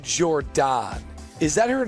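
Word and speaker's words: Jourdon: Pronounced Jordan.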